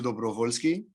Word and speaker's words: Dobrovolschi: apologize because i wish i was better at pronouncing nicks hello everyone thank you very much i'm dobrovolsky i'm a romanian captain of the romanian national